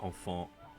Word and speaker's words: enfant: Oh, sorry, enfant. Even though it's pronounced the same as the plural, it's, yeah, missing the S, it's child.